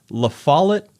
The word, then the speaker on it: La Follette: me so much because if you pronounce the double L's in La Follette like a Y, like the Spanish word for brochure is el folleto or something. And so if you were to pronounce La Follette like that, you end up with something that sounds almost exactly like Lafayette.